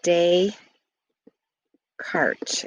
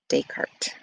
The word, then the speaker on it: Descartes: pronounced it looks like day cart is how it's pronounced descartes um the x and